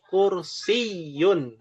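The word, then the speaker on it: كرسيٌّ: Ynya ada tasdidnya. Dibacanya kursiyun.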